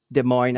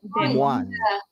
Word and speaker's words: Des Moines: Des Moines, Iowa. Oh It's yeah. Des Des Moines.